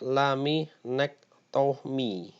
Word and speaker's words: laminektomi: tindakan yang lain lagi adalah laminektomi Hai pengucapannya adalah Lami next tuh me merupakan tindakan pembedahan pengangkatan